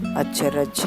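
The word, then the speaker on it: अचरज: So it's pronounced a, ch, ch, r, j, acharaj.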